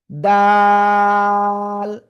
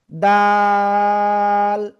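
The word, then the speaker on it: دال: খেয়াল করবেন সবাই, এই যে দাল, তিন আলিফ টান, এক দুই তিন আলিফ, দাল।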